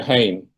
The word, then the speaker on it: Hain: This is from Tierra del Fuego, and it's called The Origin of the Hain. That's spelled H-A-I-N.